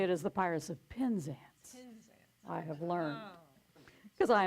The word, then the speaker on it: Penzance: So I was saying it in the southern way. It's the Pirates of Penzance. But to say it correctly, it is the Pirates of Penzance.